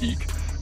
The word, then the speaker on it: Ik: called the eek glyph spelled ik pronounced eek and it means um